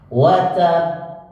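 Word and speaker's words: وَتَبَّ: Ketika bertemu dengan qalqalah akbar, maka harus ditekan dan diberikan space sehingga baru dipantulkan. Wa tab. Nah, karena tulisannya begini. Wa tab. Ya, watab. Nah, cara bacanya watab. Nggak boleh langsung watab. Salah. Karena ini ditahannya 2 harokat lebih.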